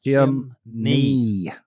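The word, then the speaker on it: chimney: Chim-ney like your knee. knee. Like your knee. Don't listen to them. It's chimley.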